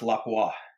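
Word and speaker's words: Lapua: over at Capstone and and burger and and laua it's actually pronounced laua laua is that for real laa yeah that's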